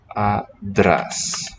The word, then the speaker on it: άντρας: So the sound really is ad. Now here we see a bit of a paradox. So to transcribe this one phonetically, another use of the square brackets. Adras is how the word for man sounds.